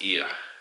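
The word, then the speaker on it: Oia: And tomorrow I'm gonna meet my mom and my sister again, and we're gonna go up to, I say Hawaii, I think it's actually pronounced Ia.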